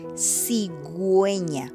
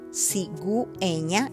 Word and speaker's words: cigüeña: or an I, then you are going to pronounce the U. For example, cigüeña, cigüeña, you pronounce the U because it has a little two dots, diéresis.